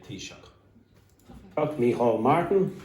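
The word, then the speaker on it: Taoiseach: Tea. Like a cup of tea and shock. Okay. And this is what we call the prime minister in Ireland. We do not say prime minister, we say tisha.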